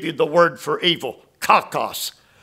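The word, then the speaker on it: κακός: let me give you the word for evil cockos K A K oos cockos what does it mean this will surprise you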